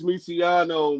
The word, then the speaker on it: Miano: So, it's Miano, man. Miano, like Lucky Lo from the M, you know.